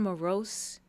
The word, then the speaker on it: Moros: It's pronounced Moros. Mus. Is the R strong in it so I can say mus? It's not very enunciated. No, none of it is. Okay, so It's Greek. mus.